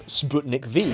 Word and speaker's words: Sputnik V: Do you remember the Russian vaccine against the coronavirus, the famous Sputnik V? (((PRONOUNCE THE "V" AS "VEE")))) On paper, the vaccine worked.